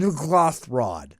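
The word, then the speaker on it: N'ghathrod: Captain Nuglathrod. Yes. That's exactly how you pronounce that.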